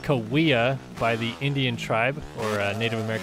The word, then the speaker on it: Cahuilla: people call it uh kahia i called it kahir for years but uh it is actually pronounced kawia by the indian tribe or a native american